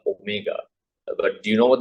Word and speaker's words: Omega: tells me but S I saw wal so you know the confusion is like you know Omega W confusion the same thing and the right pronunciation is what Omega okay W so w